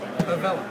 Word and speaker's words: Avella: Avella, did I say it right? Good fella? Avella. That's right.